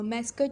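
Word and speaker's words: mascot: Okay, then हमारे पास आ जाता है मास्कट लोगो, मैस्कट या मास्कट, कुछ लोग इसको मास्कट प्रोनाउंस करते हैं, कुछ मैस्कट करते हैं, मुझे मैस्कट ज़्यादा अच्छा लगता है इसलिए मैं मैस्कट कहूँगी।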